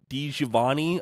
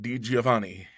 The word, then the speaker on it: DiGiovanni: And then Frank DiGiovanni, I do apologize if I mispronounced that, said signing. Say that again, Jeremy. I would pronounce that DiGiovanni. Thank you very much. I kind of, what's the word, slurred the beginning of that together, so I apologize.